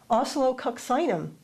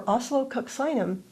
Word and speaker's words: oscillococcinum: Think of the word oscillate, kind of like that, oscillo.